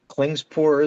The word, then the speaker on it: Klingspor: And I get this from Klingspor, is it?